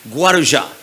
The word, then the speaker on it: Guarujá: happening at a home in a place called guarujá took me a month to learn how to pronounce that guaruja and my father calls me and says why